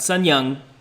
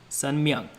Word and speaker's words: Sun Myung: Okay, just first off, there's an M in his middle name. It's Sun Myung Moon. Not Sun Young, Sun Myung.